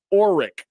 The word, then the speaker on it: Orrick: Or, as in boat or, Mm-hmm. Rick. Orrick.